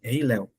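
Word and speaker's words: הֵילֵל: É porque a expressão estrela da manhã, aqui no hebraico, é a expressão Rei Léo. Pronuncia-se Rei Léo.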